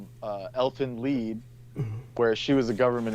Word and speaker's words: Lied: Lelfen Lied, like the German word for song. Lied.